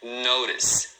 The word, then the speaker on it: notice: O outro exemplo é notice. Notice, tá vendo? Duas sílabas. Notice.